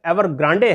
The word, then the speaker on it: Evergrande: इसका सही pronunciation एवरग्रांडे है, लेकिन अपनी सुविधा के लिए मैं इसे एवरग्रांडे प्रोनाउंस कर रहा हूं।